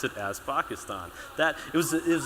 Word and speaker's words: Pakistan: uh say the country's uh Pakistan because it's pronounced Pakistan not Pakistan he actually pronounces it the way it's supposed